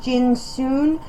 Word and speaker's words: Johnson: of the time also his name is Bill Johnson pronounced jinon and he has a